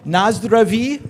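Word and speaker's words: Na zdraví: Um, Nazdra is how you say um, cheers in Czech Republic.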